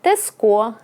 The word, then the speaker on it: тезко: Той, хто має з ким-небудь однакове ім'я - це теско. Теж наголос на другий склад.